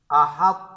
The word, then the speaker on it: احط: اور وقفاً احط، احط۔ اچھا، یہاں پہ طا کو جو ہے روا پڑھنے میں، یعنی طا میں احط کے ہجے میں طا کا نام بھی لیا جائے گا، اور روا پڑھنے میں جو ہے پڑھتے وقت قلقلہ نہ کرے، البتہ طا کو پر پڑھے۔ یعنی جب ہم روا